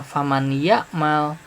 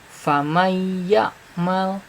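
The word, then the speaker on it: فمن يعمل: huruf Idgham Bighunnah sehingga dibacanya bukan faman ya'mal tapi famayakmal famayakmal ya sama Iya mau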